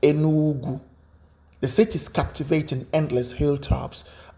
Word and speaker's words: Enugu: It is pronounced as Enugu.